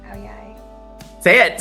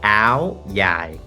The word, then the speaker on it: áo dài: It's Áo Dài. It's a different accent. Okay. And then in the northern Vietnam, they call it Áo Dài. Oh. With a Z.